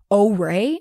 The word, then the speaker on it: Orai: is an app called O-Ray, I believe. I looked it up and that's how I think you pronounce it.